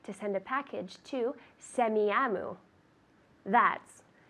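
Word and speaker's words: Semiahmoo: a a h m o o very good semiyamu good that's a pronunciation it's a Native American name it's a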